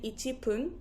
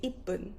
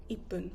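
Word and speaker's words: いっぷん: For example, I don't say ichipun. I don't say that. I say ippun, ippun with a little tsu. So I stop ippun.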